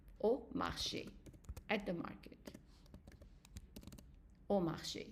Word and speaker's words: au marché: And then if it is followed by a U, then it is pronounced as an O. Not O, but O. Okay? So Okay. let's say, for example, you would say au marché, at the market.